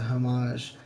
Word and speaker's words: homage: Thief Simulator, and like, it's a homage, but the H is silent.